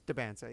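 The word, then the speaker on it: Dybantsa: Or is it DeBansa or Diabansa? No, I don't know how you spell it either. Why would you be so... DYBANSTA. There you go. It's DeBansa, yeah.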